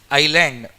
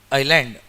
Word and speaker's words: island: S is silent here. Island. Island.